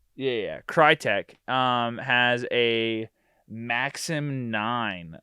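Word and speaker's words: Krytac: is right right yeah because it's Tac like tactical yeah yeah crytek um has a maxim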